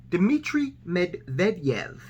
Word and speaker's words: Dmitry Medvedev: to a restructuring of the economic landscape worldwide dmitry medvedev that's how you pronounce his name hillary no lingering effect no